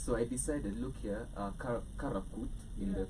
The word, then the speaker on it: Karakvrt: Yes, so I decided, look here, Karakvrt in Yeah. the correct Turkish Yeah.